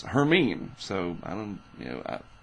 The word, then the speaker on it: Hermine: you say it by the way it's not hermine or whatever it's herine so I don't you know I wondered what it was and I looked it up and the pronunciation guide says herine so maybe that becomes herine if this doesn't